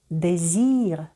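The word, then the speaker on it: désir: одержується а Ми продовжуємо наступне правило літера с між голосними коли ви бачите цю літеру в оточенні голосних Ви читаєте її звуком з і за і за дефіра дезір гіпнози іпноз іпноза не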